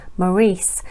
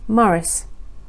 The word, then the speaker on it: Maurice: his name to be pronounced as the French pronunciation of Maurice and not the English pronunciation of Morris his mother was Georgie